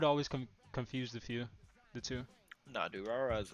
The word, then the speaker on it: Durarara: That's how you pronounce that? Durarara, yeah.